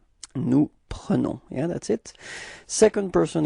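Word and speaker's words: nous: plural it's okay and keep in mind that is pronounced like okay new repeat new yeah that's it second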